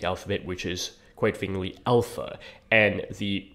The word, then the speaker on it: alpha: is to be pronounced given that there are several different a sounds within English you know there's a like an ant and then there's a like in drama which is actually you